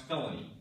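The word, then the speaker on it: Phelony: sign of letters in it but yeah it's pronounced felony I'm sure Jane Aaron and felony will have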